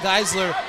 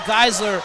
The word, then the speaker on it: Geisler: you off there Holland gisler a guard who's played here for four years with Pensacola for about the first two to three years I've been pronouncing her last name wrong but Geisler a force from the